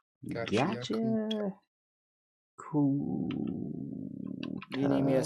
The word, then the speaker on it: Gachiakuta: See, is season 2 of Gotcha? Gachiakuta. Cool. You need me to spell it for you?